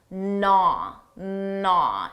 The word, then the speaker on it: gnaw: First of all, notice that silent G naw naw it starts with a an N sound.